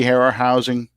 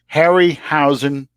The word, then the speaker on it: Harryhausen: who that man is say that again ray hare our housing hairy huh I can't say his name right now Harryhausen do you know who